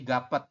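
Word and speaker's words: 값: Jadi Anda nanti membacanya hanya seperti ini. Hanya gap. Ya. Jadi dibacanya itu hanya gap.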